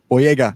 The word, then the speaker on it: Boyega: Boyega. No. Doesn't rhyme with bodega.